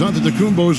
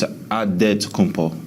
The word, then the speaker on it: Antetokounmpo: the spelling of Giannis Antetokounmpo's last name. He helped set the record straight of how you pronounce it. The Nigerian way, you gotta say with a D, so it's Antetokounmpo.